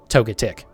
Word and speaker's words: Togetic: pronouncing that is most people say Togepi and most people say toga kiss so it seemed it feels like the correct way to say it is Togetic but that's just how I feel about it anyways uh but yeah